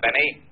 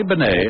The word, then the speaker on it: Bennet: It's pronounced Benet, not Benny.